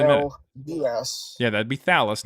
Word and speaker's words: Thallus: Yeah, that'd be Thallus, not Thalius. There's no I.